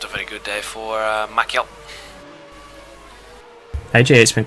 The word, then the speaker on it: Maciel: You pronounce Maciel, not Machinel. Maciel.